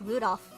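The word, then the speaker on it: 留弗夫: That mess of a character's pronounced Rudolph, the red-nosed reindeer.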